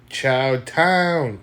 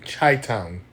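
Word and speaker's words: Chi-Town: Chowo town. Chai town. That's how you say it.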